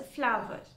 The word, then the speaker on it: flower: The first word, F-L-O-W-E-R, should be pronounced as a flower. Some of us tend to pronounce it as flower. No, that's not right. It is flower.